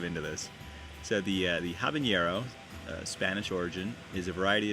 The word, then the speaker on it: habanero: variety of chili pepper when used in english it is sometimes spelled out and pronounced taba and yarrow i'll have a narrow habanero the the diacritical mark being added as a hyperforinism all right let's skip